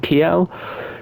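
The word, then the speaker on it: Kiel: very north of Germany in K I think is how you pronounce it in Kel cuz obviously cuz um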